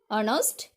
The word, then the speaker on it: honest: For example, he is an honest man. H is silent here. That is the correct pronunciation of in English. Okay. Not honest, honor, our. It is honest, honor, our, like that.